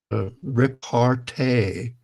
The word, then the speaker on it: repartee: It's repartee. Is a Oh, French word, repartee, that repartee.